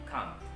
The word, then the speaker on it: can't: one and the last make sure you pronounce it correctly by using ken and kant that's all for today